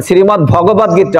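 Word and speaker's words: শ্রীমদ্ভগবদ্গীতা: এটা উচ্চারণটা কি আমাদের গ্রন্থের সেটা আপনারা শুদ্ধ উচ্চারণটা করবেন শ্রীমদ ভগবত গীতা অনেকে ভাগবত গীতাও বলে শ্রীমদ ভগবত দ আর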